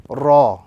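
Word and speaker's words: راء: And as we focus a little bit on the pronunciation, this particular letter, the letter Ra, is pronounced when the tip of the tongue slightly touches the upper gums, the letter Ra.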